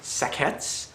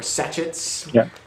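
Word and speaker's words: sachets: each bag comes with 20 sakets or satchets depending on how you want to pronounce it and um oh it's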